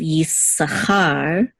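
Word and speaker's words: Issachar: in English it's it's a car instead of Yi Sahar and in English it's zebulin accident on the first syllable but in Hebrew it's the volume Accent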